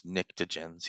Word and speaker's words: pnictogens: Alkali metals, alkaline earth metals on the 1A, 2A, and then on the other side, we have icosagens, tetragens, pnictogens, yes, the P is silent, chalcogens, halogens, and noble gases.